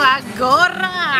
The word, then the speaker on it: agora: Great, perfect pronunciation. La praia tá muito boa. Oh, agora. It's exactly like this. Agora.